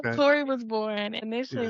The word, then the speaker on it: Q'ori: So, first it was just Corey and that comes from my middle name.